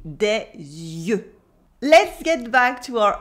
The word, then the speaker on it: yeux: Yes, it is des yeux, It is a completely different word, but you still have the y sound at the beginning, des yeux.